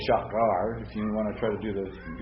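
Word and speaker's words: שער: Well, actually, I'm doing it wrong because the accent's on the first syllable.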